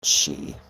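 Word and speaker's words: sidhe: of them including the she and that's s-i-d-h-e but it's pronounced she and those are the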